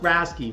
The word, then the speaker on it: RASCI: a how-to guide again it's pronounced rasy for the r a c I letters you should also know